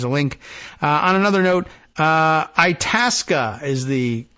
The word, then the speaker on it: Itasca: On another note, Itasca is the correct pronunciation of the area and lake that we mentioned not that long ago.